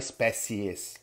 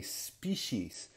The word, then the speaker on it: species: Species, olha só como muda totalmente a pronúncia aqui dessa palavra, não tem nada a ver com a ortografia, para nós que falamos português. Não é species, é species.